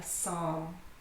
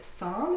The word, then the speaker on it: psalm: And psalm is interesting because it has two silent letters. Can you tell which two letters are silent? Psalm. Psalm. That's right. The P is silent and the L.